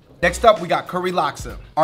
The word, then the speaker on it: laksa: Linda, earlier, you did have an interesting pronunciation of laksa. Alaska, like Alaska. Is it not Alaska? It's LAKSA, L-A-K-S-A.